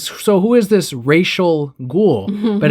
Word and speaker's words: Ra's al Ghul: mega racist villain this racial ghoul that's Rachel and that's what Batman says racial ghoul and so even the comic tells you how to pronounce a name but in this they I guess ignored that panel along with the artwork and they say Ra's al Ghul the whole time and